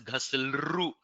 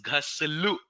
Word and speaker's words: घस्लु: This is not to be pronounced as ghaslru. This is ghaslu.